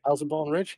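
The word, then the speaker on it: Elsenborn Ridge: Eldenborn Ridge, yeah.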